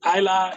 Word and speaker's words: Isla: Ryan is the French spelling Rayan, and Isla is just, it's like island without the end part.